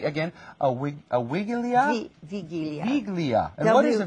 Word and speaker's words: wigilia: um and also you have a let me pronounce this correctly again a wig a wigilia now what is a viglia is an as a Christmas Eve dinner it's